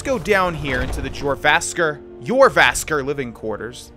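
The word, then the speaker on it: Jorrvaskr: Let's go down here into the Yervasker living quarters. The J is not pronounced, if I understand the dialect correctly.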